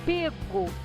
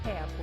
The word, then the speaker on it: pego: e o livro foi pego na estante que essa é a pronúncia mesmo com esse fechado fico e não pego um já viram como